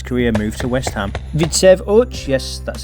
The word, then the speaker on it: Widzew Łódź: Vidsev Uch, yes, that's how you say it, not only